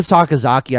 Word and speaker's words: Sakazaki: because like real yuka sakazaki i know one scottish guy was like trying to say her name a bunch of times sound it out bro yeah it's it's just through two parts saka zaki you know and then